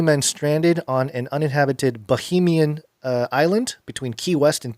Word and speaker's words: Bahamian: But not Bohemian, which is what you first said.